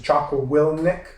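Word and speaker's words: Jocko Willink: uh has his his podcast his name is choco will nick will is that how you pronounce it yeah so i like listening to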